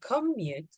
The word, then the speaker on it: commute: meaning is the verb when you want to use the noun stress the first part come come my commute commute one more time